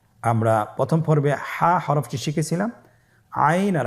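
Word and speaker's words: عين: আইন হরফটি উচ্চারণের সময় অবশ্যই তিন আলিফ টেনে পড়তে হবে। এখন আইন হরফটি বারিক হরফ। পাতলা করে পড়তে হবে। আপনারা আমার সাথে বলুন আইন।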